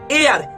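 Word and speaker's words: heir: एन एयर, ध्यान दीजिएगा, इसको हायर नहीं पढ़ते हैं, इसको एयर पढ़ते हैं।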